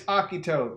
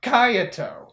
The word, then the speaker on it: Akito: I get it now it's Akito not KY anyways I hope you